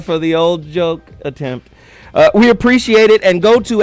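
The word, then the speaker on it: oui: And we is, the last we is spelled O-U-I. French. We.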